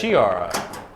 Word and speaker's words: Chiara: Kiara was the Or- one in 5th, which was a point out. We've been saying her name wrong all these years. Yeah. Chiara? It's Chiara.